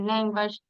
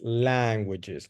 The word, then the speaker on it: languages: 100 in the 3 language, and she told me that she only speak English and Spanish. Okay, good. Excellent. Remember the pronunciation is languages, not language. Languages.